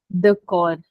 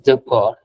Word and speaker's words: d'accord: The chord. No, the chords. No. You say it as the core.